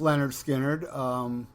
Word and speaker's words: Lynyrd Skynyrd: out with the with the first album is pronounced Lynyrd Skynyrd this one I I get owned as a